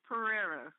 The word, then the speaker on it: Perera: Now, did he pronounce that right? He did Aja. It's Perera. Perera, okay.